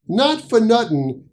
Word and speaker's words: not-fuh-nuttin: Not for nuttin' is the quick pronunciation of the phrase not for nothing.